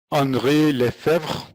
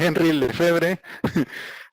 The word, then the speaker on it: Henri Lefebvre: Uno de ellos es Henri Lefebvre, así se pronuncia. Sí, para más facilidad, Henri Lefebvre.